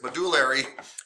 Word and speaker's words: medullary: Medullary, I always say it wrong, medullary, sorry, thank you, there it is, medullary cavity.